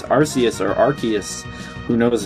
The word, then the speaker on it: Arceus: It is pronounced Arceus.